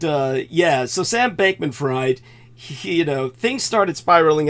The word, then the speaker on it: Fried: to Sam Bank been freed uh we're talking about a guy whose last name is actually spelled fried so I'll happily pronounce it fried cuz I think it's